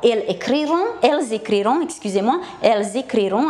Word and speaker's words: elles écriront: Alors, elles écriront, attention à la liaison dans la prononciation, ele vor scrie.